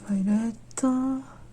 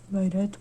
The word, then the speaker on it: Violet: dans cette vidéo mais violette oui je prononce violette et pas violette parce que je regarde la série en anglais et donc je le prononce à l'anglaise donc comme la version